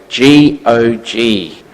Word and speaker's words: Gog: In Ezekiel 38, you've got the first nation mentioned here as Gog, G-O-G, not Gogomobile, Gog, all right? Or Gog, however you want to pronounce it. I've always known it as Gog.